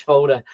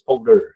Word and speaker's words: Foldr: bit of a joke because it's not folder it's folder so if you've ever been